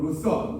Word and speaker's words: 루터: 우리가 종교 개혁하면 마르틴 루터 혹은 루서, 원래는 루서 하는 게 이제 영어 발음인데요.